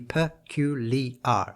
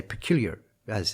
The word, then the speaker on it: peculiar: this northeastern american or a name that's peculiar it has to be percu lee r all of those syllables announced otherwise the line falls apart today we would say peculiar as and slur those those syllables but it's peculiar now i haven't made